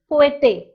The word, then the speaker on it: cohete: Are you noticing that I'm not saying the sound of an H? So I'm not saying cohete, but I'm just saying cohete because H is silent in Spanish.